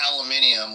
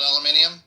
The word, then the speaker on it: aluminium: Unlike the British saying aluminium when it's not actually spelled. Do they actually spell it different? Is it actually spelled aluminium? They just say it aluminium. I mean, they add an extra syllable, but I think they might spell it with that extra syllable, too, maybe.